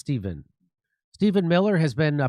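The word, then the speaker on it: Stephen Miller: While Stef Stefan Miller, is that how you say his name? You see it's Steven.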